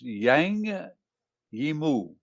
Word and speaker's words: Zhang Yimou: this famous machine here to learn how to pronounce it it's it's yang heemu directed by yang li emu z-h-a-n-g second name and i'm never i'm always